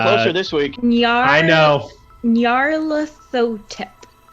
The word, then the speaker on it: Nyarlathotep: Well, it's like if Nyan Cat and Emotep had a baby. Okay, That's Nyarlathotep.